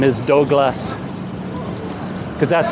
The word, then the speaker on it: Douglas: that or not, but every time I tell people my name is Doug or Douglas, nobody can say it. They can't pronounce that for some reason. And they always come out with Douglas, like Dog or Douglas. So even if I say Doug, they come back with Dog.